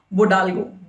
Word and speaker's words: Bodalgo: इसके बाद हम आते हैं, इस वेबसाइट का नाम है बोडाल्गो, BODALGO। अगर इसको ऐसे ही प्रोनाउंस करते हैं तो आई एम श्योर, लेकिन मैं स्पेलिंग बता रही हूँ आपको, BODALGO।